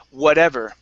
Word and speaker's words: whatever: And last one here for you is whatever. Okay, so flip this T to a flap T.